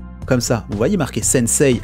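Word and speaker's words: 先生: voyez marque et sensei avec le i qui est là bas ce il ay ne se prononce pas réellement il est en fait en vrai on devrait prononcer avec un autre e là derrière pour donner deux temps à la syllabe eux sennecey paris pau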